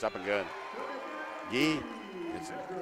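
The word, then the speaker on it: Gui: Guy, it's a French name. G-U-I. Guy is how they say it.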